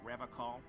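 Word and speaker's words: Revachol: to stay strong for rev call Rev call he pronounces revon with a hard K unlike other people you said R call I like to pronounce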